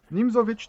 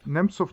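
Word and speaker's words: Nimzowitsch: And Osipov started to answer him saying Nimzovich defense. He pronounced it so poorly that it felt like he said Nimsov defense, right?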